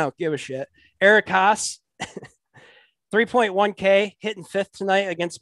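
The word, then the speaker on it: Haase: Since Detroit likes to roster 9 catchers in their lineup, I'll go with I'm gonna say his name wrong, but I don't give a shit. Eric Haas, 3.1K, hitting 5th tonight against Mike Minor.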